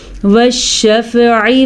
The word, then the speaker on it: وَالشَّفْعِ: ٹھیک ہے، وَالشَّفْعِ وَالْوَتْرِ، وَالشَّفْعِ، عین پر، عین کے تلفظ کا دھیان رکھنا ہے، پر نہیں ہے یہ، بلکہ یہ اپنے حلق سے صحیح طریقے سے نکالنا ہے۔ اگر آپ پڑھتے ہیں